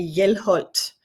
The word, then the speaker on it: Hjelholt: And actually the H in front is silent.